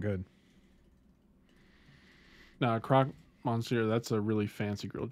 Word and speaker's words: croque monsieur: but he's right that does sound good nah croc monsieur that's a really fancy grilled cheese those are banging i probably mispronounced it terribly yeah it's kirk montz here but you're close enough well there's also another